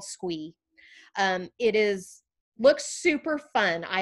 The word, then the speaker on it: Sqwee: And one is a platform called Squee, and that is spelled SQWEE, Squee.